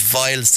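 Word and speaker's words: Weil's: human version of that is vials disease spelled with a w we I LS vials disease everyone's heard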